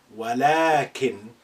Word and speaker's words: ولكن: You say ولكن, but you don't write it like that.